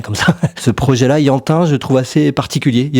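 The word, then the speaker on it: Ianhin: Le dernier album qui m'a un peu marqué, c'est le l'album de Yantin. Ça s'écrit I A N H I N.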